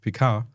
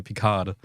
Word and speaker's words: Picard: in English you say Picard. So, you have the R. Yeah, but no, mainly the D, because in French you don't pronounce the consonant at the end.